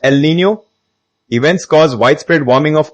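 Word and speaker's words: El Niño: For example, El Nino pronounced El Nino events cause widespread warming of ocean surface temperatures.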